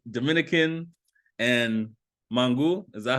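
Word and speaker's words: mangú: Darian says Dominican and Mangu.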